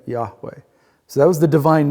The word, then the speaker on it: Yahweh: That was the unpronounceable name of God, YHWH, right? We put letters in it and we call it Yahweh, right? Yahweh.